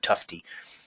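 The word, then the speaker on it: Tufte: and look him up his last name is spelled TUF te Edward tufty uh also does uh some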